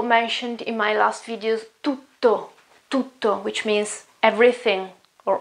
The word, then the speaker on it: tutto: You have T at the very beginning and then a double T. Okay? Tutto. Tutto. So you may notice that I stay there for a moment with my voice.